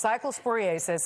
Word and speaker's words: cyclosporiasis: I always say it wrong. It's cyclosporiasis. I always mess it up. Cyclosporiasis. Right. It's a mouthful.